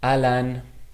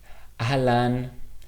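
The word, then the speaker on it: אהלן: This word is pronounced alan. Ahlan comes from Arabic originally,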